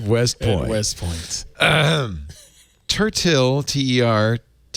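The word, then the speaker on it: Tertill: point west point um tertil t-e-r-t-e-r-t-i-l-l like pronounced turtle it's got a little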